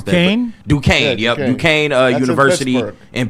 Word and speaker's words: Duquesne: Hosted at how do you pronounce that? Dunkesk, or I don't know how to pronounce Duquesne? that. Duquesne, Yeah, Duquesne That's University in Pittsburgh, through the championship.